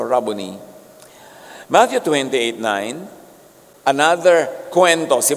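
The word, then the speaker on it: Rabboni: John 2016 humarap siya at kanyang sinabi raboni or guro. Yung mga Amerikano sasabi nila, rabon. Pero that's an Americanized pronunciation. A Hebrew word walang long eye. So rabony.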